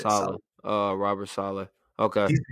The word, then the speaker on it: Saleh: I think it's like to say it like ASALA. That's how you say it. Saleh.